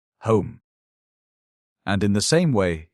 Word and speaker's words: homme: bark he learned from D’Arnot that it was pronounced _homme_, and in the same way he was taught to pronounce ape, _singe_ and tree, _arbre_.